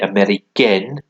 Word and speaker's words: américaine: But elle est américaine. You pronounce the N a bit more if it's got an E at the end.